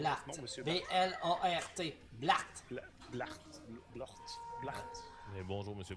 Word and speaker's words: Blart: Comment on prononce Blart. votre nom, monsieur Bart? B-L-A-R-T.